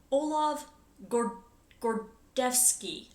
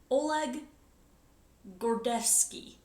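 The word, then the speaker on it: Oleg Gordievsky: Olav Gordevsky. I'm probably mispronouncing that. Oleg Gordevsky.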